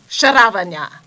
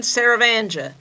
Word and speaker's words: Saravanja: Now, as someone who now has a very difficult-to-pronounce name, I'm Saravanja. And he's Keanu Reeves, not Keanu Reeves. And I'm not Saravanga.